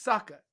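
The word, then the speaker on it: Sokka: over to he's like my name's Saka it rhymes with AKA and I was like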